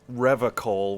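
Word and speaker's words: Revachol: his feet he pronounces revocal with a hard k unlike other people serious question time this man is no innocent no one is you said revere cole i like to pronounce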